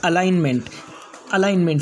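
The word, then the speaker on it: alignment: इसके बाद का नेक्स्ट रूल है, जब जी के बाद एन आ जाए तो जी साइलेंट होगा। यानी जी के बाद फ़ौरन बाद एन आएगा तो जी साइलेंट हो जाएगा।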